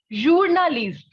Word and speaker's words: journaliste: So a journalist is in English, while in French, we have journaliste.